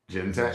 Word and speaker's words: Genetech: You know, I'm pronouncing it the same way that Forrest Gump pronounces Jenny. Genetech.